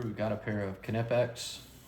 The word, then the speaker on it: Knipex: We've got a pair of Knipex. That's the correct way to say Knipex, by the way.